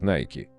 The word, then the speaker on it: Nike: Название бренда происходит от имени богини Победы Ники и в оригинале звучит Nike. Именно так его произносят в Соединенных Штатах.